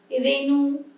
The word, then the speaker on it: রেণু: অয়ের পরে যখন হর্ষই থাকছিল ওকার বলছিলাম, এর পরে যখন হর্ষই থাকছে বা হর্ষও থাকছে, মানে হর্ষইকার বা হর্ষউকার থাকছে, তখন এ উচ্চারণ করছি, রেণু, ধেনু, ফেনিল, ঠিক আছে?